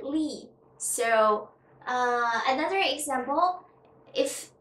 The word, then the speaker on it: Li: it as li mr lai no you can't kiss l i in chinese we pronounce it it is not mr lie it is mr lee so uh another example